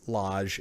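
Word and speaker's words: Lage: pronunciation sake oh yeah julian's last name was pronounced as loj in the same meaning as garage so hopefully i did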